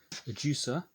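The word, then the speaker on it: Ajusa: then other options we've got the spanish brand a juicer that's how you pronounce it and they do two types just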